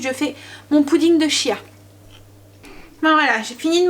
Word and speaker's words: chia: Donc j'ai mis 30 g de graines de chia ou chia. Ou... oui, je sais plus trop comment ça se dit. Voilà, ça s'écrit C-H-I-A. Mais je crois que ça se dit kia. Comme kia.